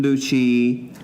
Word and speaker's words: Lucci: You said Lucci, but I'm just saying Lucy. Different. Not Lucy, but Lucci. Yeah, Lucci. Susan Lucci.